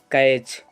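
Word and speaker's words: catch: जैसे कैच, कैच में क्या है, सी एच आ रहा है, उससे पहले टी है, तो यहाँ पे हम टी का उच्चारण नहीं करेंगे।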